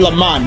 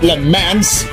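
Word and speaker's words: Le Mans: Yeah, I said Le Man, not Lemans. What a Who the [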